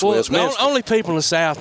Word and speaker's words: Westminster: It's not Westminster, it's Westminster.